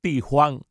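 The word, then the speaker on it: Di Huang: En chino se pronuncia Tijuan.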